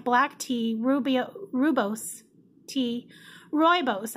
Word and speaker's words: rooibos: tea rooby-roo bose tea rooibos I think is the way that someone told me that it's pronounced cinnamon chips Apple pieces